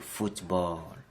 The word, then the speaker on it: football: For your attention, all the sports that are ended with ball are the same in French. We don't change the pronunciation. Try it over there. Very good. The answer is le football.